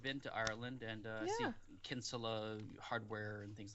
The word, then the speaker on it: Kinsella: it's uh irish so it's pronounced kinsella in uh in ireland over here yeah we do say kinsella over here that's not when i've